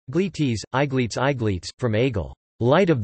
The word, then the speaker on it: Aegletes: Aegletes, Gletes, Aegletes, Aegletes, from Aegle, light of the sun.